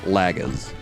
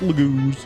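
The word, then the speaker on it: Largo: but that's one that I'll happily change the pronunciation for um same with like Lago it looks like lagas but Noe it's Lago same with um phicus I used to when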